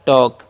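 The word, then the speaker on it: talk: एल का silent हो जाएगा। तो इसे हम पढ़ते हैं टॉक।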